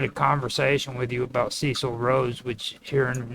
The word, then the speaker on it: Cecil: Just on the minor And point, now, his name is pronounced Cecil, not Cecil.